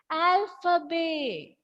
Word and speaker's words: alphabet: And the pronunciation of this word is alphabet. Alphabet. Okay, T will be silent and we'll pronounce this word as alphabet.